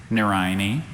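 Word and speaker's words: nerine: Any plant of a genus of southern African bulbous herbs with strap-shaped leaves and showy red flowers resembling lilies is a Narayani.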